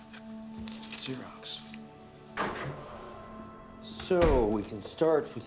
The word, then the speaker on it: Xerox: starts with an ACC um It's Greek it's pronounced Xerox zerox so we can start with the signature card